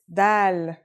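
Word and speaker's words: دال: Our first letter is Dal. It's just like the English D. Very easy to pronounce and easy to write as well.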